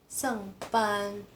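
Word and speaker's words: 上班: Ini nada keempat ya guys. 上班.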